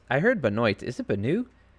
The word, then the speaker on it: Benoit: Ryan Benoit. I heard Benoit. Is it Benoit? This is OIT at the end of his name. That's the classic French pronunciation of forget all those three letters.